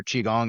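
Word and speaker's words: qigong: So I got more into like the Keong or Chiong as we like to pronounce it the proper way as a lot of you guys will say, not the Korean version.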